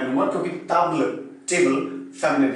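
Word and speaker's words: table: ऐसे टेबल को आप देखेंगे सेम स्पेलिंग है, इसे ताबल कहा जाता है और ये फेमिनिन है।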